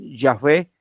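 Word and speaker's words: Yahweh: W Sí en español que algunos pronuncian yahwe Ah y en muchas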